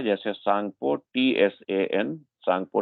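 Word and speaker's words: Tsangpo: दिहंग नदी जो है, इसको कई नामों से जाना जाता है, जैसे सांगपो, TSAN, सांगपो T silent है, सांगपो, TSANG।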